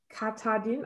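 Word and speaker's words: Katahdin: And it's on your yarn base, Katadin. I'm not sure how to pronounce that correctly.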